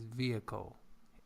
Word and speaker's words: vehicle: H, for example, we have vehicle, but it is vehicle. H again is not pronounced.